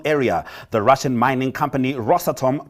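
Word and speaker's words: Rosatom: the russian mining company rossatom pronounced ross atom locally represented by its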